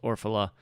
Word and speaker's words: Orfalea: It's spelled a little weird, so I don't always get it right. Orfalea, even though it's pronounced Orfala.